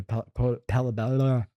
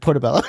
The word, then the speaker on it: portobello: And I think somebody might have just sold me a palabella. How do you say it? Portobello.